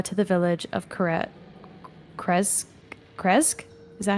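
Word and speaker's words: Krezk: Kresque.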